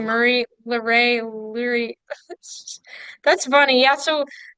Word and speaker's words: Luray: right yeah that's right that's crazy I always pronounce that Lurie like Marie Luray Leary that's funny yeah so we live in